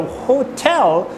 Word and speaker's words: hotel: two syllables ho until but which one do you stress you are stressing the second syllable right L so the hotel you need to really